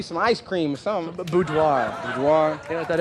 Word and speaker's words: boudoir: Snap, pronounce this word. A bordier. What is that? Probably some ice cream or something. Boudoir.